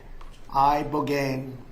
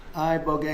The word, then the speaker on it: Ibogaine: Ibogaine. Remember the name. Is that pronounced relatively properly, would you say? Yes. I don't want to get it wrong. Ibogaine, because it's so important, and experienced an 80